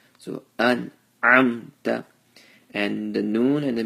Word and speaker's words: أنعمت: Hamza is pronounced from the chest, and ayn is pronounced from the middle of the throat. So an'amta, and the noon and the meme, they both have sukoons.